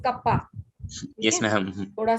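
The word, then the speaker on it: kappa: ये के जैसा नहीं है, थोड़ा गोल होता है, और इसको पढ़ते हैं कप्पा। क्या पढ़ते हैं, बोलो जरा इसको 1-2 बार। मैं ma'am कप्पा। कप्पा। This is नॉट कापा, this is कप्पा।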